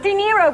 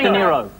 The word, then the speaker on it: De Niro: Robert De Niro, which rhymes with Zemiro.